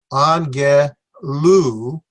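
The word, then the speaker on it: ἄγγελος: It's angelos, or instead of the loss, it'd be angelu.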